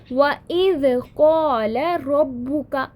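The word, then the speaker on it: وَإِذْ قَالَ رَبُّكَ: जैसे वइज़ क़ाल रब्बुका, वाव आ गया, लेकिन यही वाव अगर हमज़तुल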